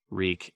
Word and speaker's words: Reek: man then reek wreak reek it rhymes with weak Ramsay had a new